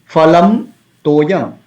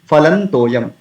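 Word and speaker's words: फलं तोयम्: So phalam toyam, two words are there, phalam toyam, but instead of phalam toyam we can say phalan toyam. Why? Because after the phalam, the anuswara, there is a syllable ta, toyam, ta is there.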